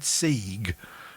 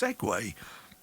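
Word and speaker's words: segue: that when he said seeg he meant segway because it's written see it's written s-e-g-u-e but it's pronounced segway so then if you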